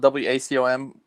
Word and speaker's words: Wacom: So it's spelled WACOM. Some people call them Wacom. Wacom is, I think, the way you're supposed to pronounce it. At least that's what the people who work there call it. So that's what I'm calling it.